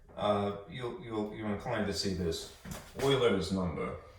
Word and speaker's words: Euler: Euler is a Swiss mathematician, I want to say, and his name is spelled E-U-L-E-R. All right, it's pronounced Euler.